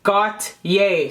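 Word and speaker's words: Gotye: used to know by the band goat got yay so it's the way you spell it is j-g-o-t-y-e somebody that i used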